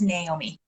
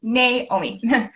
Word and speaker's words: Naomi: So just first thing, oh, sorry, my name is pronounced Naomi. So if Naomi. anybody forgets, it's Nay like a horse, and then me, Naomi.